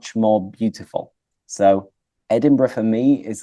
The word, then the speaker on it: Edinburgh: I it's it's funny mentioned those twoo because Edinburgh in particular has been really high on my